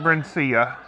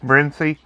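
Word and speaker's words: Brinsea: i say grew up i've always called it brencia just because i'm i'm a redneck and i like to pronounce lots of bibles but i've been told it's just brimsy but it's this big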